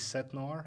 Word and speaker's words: 17noir: Is it supposed to be like this set Noir?